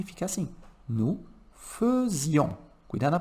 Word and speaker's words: faisions: Nous faisions. Cuidado na pronúncia, tá?